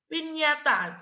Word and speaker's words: piñatas: Piñatas ini ya, bacanya piñatas.